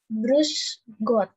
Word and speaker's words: Grüß Gott: Di sini ada yang namanya beta sign. Di sini kayak huruf B ya, tapi dibacanya double S, jadi kayak S. Grüß Gott.